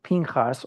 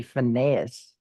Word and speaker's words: Pinchas: see even in the story of Pinchas, or pronounced in English inappropriately, Phinehas.